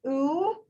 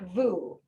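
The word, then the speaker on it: וּ: And it is pronounced oo and not vu. So the dot changes the vav from a consonant into a vowel.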